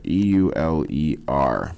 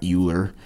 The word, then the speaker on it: Euler: Leonhard Euler, E-U-L-E-R, not Euler. It's pronounced Euler.